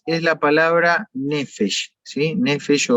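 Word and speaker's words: נפש: Nefesh se escribe con P, pero se pronuncia con F, nefesh.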